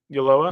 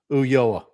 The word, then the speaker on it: Ulloa: It's Ulloa, right? Ulloa? Yeah, you got it right. Okay. Ulloa.